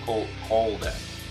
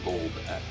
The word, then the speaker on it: Koldax: Koldax, not Goldax. Koldax.